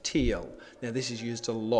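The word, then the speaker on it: TEEL: So the structure that you need to remember is T-E-E-L, which is commonly pronounced teal.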